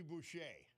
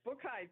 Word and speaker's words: Boucher: And here she is, Margie Boucher. How are you? I am good, and it's Bookite, but you were close.